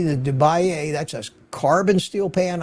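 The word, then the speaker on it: de Buyer: My favorite two are this deeper DeBaye, it's pronounced DeBaye, not DeBayer, but DeBaye Mineral B carbon steel 11-inch pan, and the Mueller 12-inch German stone.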